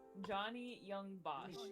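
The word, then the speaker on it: Johnny Yong Bosch: Johnny Young Bosch.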